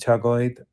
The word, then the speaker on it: chocolate: Finally, eating bread and chocolate also. Chocolate. Dos sílabas.